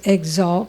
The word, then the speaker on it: exalt: Now that word normally is exalt with the stress on the second syllable.